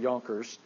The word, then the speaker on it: Junker: It's spelled with a J. It looks like Junkers, but I believe they pronounce it Jonkers.